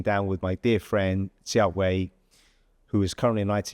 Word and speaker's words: Jia Hui: How bad was my pronunciation of your name? I think it's really good. Jia, I don't know. It's good. Jia Hui.